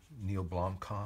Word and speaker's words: Neil Blomkamp: Chappie, because I love Neil Blomkamp. Yeah. Is that how you say his name? Yeah, that's right.